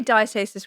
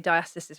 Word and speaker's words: diastasis: I say diastasis recti, but you also have people say diastysis recti, recti, you know, potato